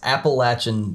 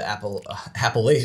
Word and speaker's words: Appalachian: And we have Josh from Appalachian Disc Dye. Welcome, Josh. Hi, Dave. How's it going? It's going. So I said your name wrong. How do you properly say it? So it's Appalachian Disc Dye.